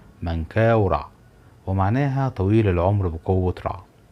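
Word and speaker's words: منكاورع: الثالث للملك من قورع اللي مشهور عند اغلب المصريين باسم منقره لكن النطق الصحيح لاسمه هو مانكا ورعد ومعناها طويل العمر بقوه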